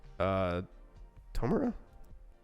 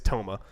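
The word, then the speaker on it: Touma: Tomura? I don't know. She Yeah, I doesn't don't- really say his name. She's just like that guy. Toma. It's Toma.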